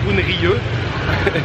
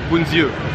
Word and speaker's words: bún riêu: Bon, moi au départ je disais bunrieux, c'est bunziu, ça se prononce.